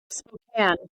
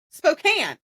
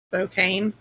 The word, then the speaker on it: Spokane: Spokan. I am so wrong. Spokane. All right. So, so sorry, Washington. I butchered your name. How is it said again? Spokane. Okay, Spokane.